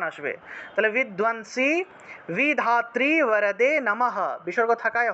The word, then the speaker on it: বরদে: মধুকৈটভ বিধ্বংসী, মধুকৈটভ বিধ্বংসী, বিধাত্রী বরদে নমঃ, বিধাত্রী বরদে। এখানে যতগুলা ব পাইতেছেন সবগুলা ব হলো অন্তস্থ ব, আর এগুলার উচ্চারণ ওয়া হিসাবে হবে, ওয়া।